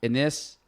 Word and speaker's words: Anass: So Anass, yeah, you said Dennis without the D.